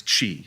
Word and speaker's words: qi: My my basis is always just that I know the I know qi is chi is how you say that.